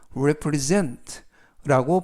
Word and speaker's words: represent: represent represent라고 발음하시면 되겠고요 이때 유의하실 점은 S 발음이 스가 아니라 즈 그래서 represent라고 발음하시면 되겠고요 엑트는 세 번째 나오는 알파벳 2의 강세가 있습니다 그래서 represent 라고 발음하시면 되겠고요 품사는 동사 뜻은 대표하다라는